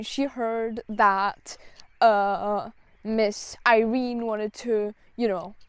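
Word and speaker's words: Yrene: her perspectiv and basically her name is spelled y r e n e so I'm like I have no clue what that is so I Googled it and turns out it's Irene so yeah but I liked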